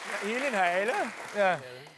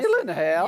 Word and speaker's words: Gyllenhaal: Alors, première chose très importante, personne ne sait bien prononcer votre nom. Alors, que ce soit clair, ça se dit comme ça. Gyllenhaal. On peut le refaire? c'est ça. Voilà. Gyllenhaal. Gyllenhaal. Vous êtes d'origine suédoise, en Suède, les gens le prononcent bien.